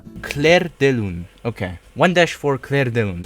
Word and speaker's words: Clair de lune: Fuck, I need to learn how to pronounce this. Clair de lune. Clair de lune.